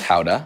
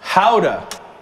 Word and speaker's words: gouda: we got a little bit of gouda technically pronounced howda i was yelled at for that howda howda cream goes in directly on boiling hot let